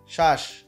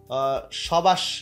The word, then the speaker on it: শ্বাস: বফলা কিন্তু উচ্চারণ হলো না। হ্যাঁ, অনেকে এটা যদি কেউ বলে যে শবদেশ, এরকম কিন্তু না, সবাস এরকম কিন্তু না, একদমই না। ঠিক আছে, এটা কি হচ্ছে মূলত, এটা হচ্ছে শ্বাস, বফলা উচ্চারণ কিন্তু এখানে হলো না।